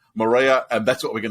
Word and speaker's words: Moorea: in French Polynesia and it is pronounced by the locals as Moorea but it's a lot easier for uh those of us not of Polynesian uh descent to say Maria and that's what we're